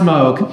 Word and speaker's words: Moog: it's first of all it's not a moo synthesizer secondly it's pronounced Moog third I have one